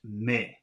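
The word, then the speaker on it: mais: consonants are not pronounced the first word is m-a-i-s so that should be pronounced me and I guess we'll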